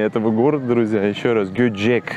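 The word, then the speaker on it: Göcek: Еще раз, Гёчек, да, так правильнее все-таки будет по-турецки. Ну или как-то Гёчек более-менее привычно, что ли, нам с вами.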